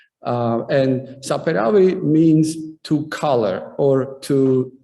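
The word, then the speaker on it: Saperavi: correctly so uh about sapphirawi uh first of all pronunciation always uh in georgian words this uh syllable falls on the first half uh and saperaway means to color or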